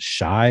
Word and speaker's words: Shi: No, it's Shy Smith.